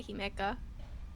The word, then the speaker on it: Himeika: joining me today is Himeika. Hi, Did I get the pronunciation right? Uh, kind of. I mean, you did technically do it right. I usually just say Himeka.